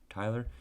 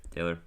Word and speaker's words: Taylor: his name right because i did say tyler yep taylor i was wrong we'll move on okay